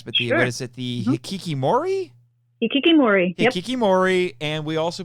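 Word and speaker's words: hikikomori: We're going to talk about you'll have to help me with the pronunciation on this, Bex, but what is it, the hikikimori?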